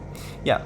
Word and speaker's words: ye: Yeah, so this road, this dirt road going beside the tracks, is new since my last, well, since I built this area.